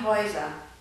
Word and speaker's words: Häuser: Aus AU wird ÄU. Ausgesprochen wird das aber AU und EU. Das Haus, die Häuser. Der Traum, die Träume. So, das war's auch schon.